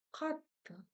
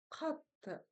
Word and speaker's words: қатты: Катта. Катта. Здесь ударение будет на первый слог.